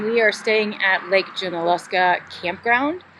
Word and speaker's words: Junaluska: We're in Waynesville, North Carolina, and we are staying at Lake Junaluska Campground. You said it right. Thank you. I keep calling it Junaluska. I know. But it's nowhere near Alaska.